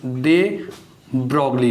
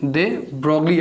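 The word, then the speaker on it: de Broglie: यस, दे ब्रोगली ने। किसने explain किया था भाई? दे ब्रोगली या दी ब्रोगली, जो भी आप प्रोनाउंसिएशन कर सकते हैं, ठीक है।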